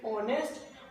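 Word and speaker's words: honest: अब question mark देखो, ऑनेस्ट, ऑनेस्ट का ये एच होता है साइलेंट।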